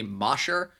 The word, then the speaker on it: Mosier: Mosier, Mosher. I guess not actually phonetically, but for the sake of convenience, I'll say phonetically Mosher. Is how you'd think of it.